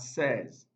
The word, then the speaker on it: says: word is pronounced at says says the letter a y represent the vowel sound so the correct answer here is fence fence because the option here here has the air sound option b page no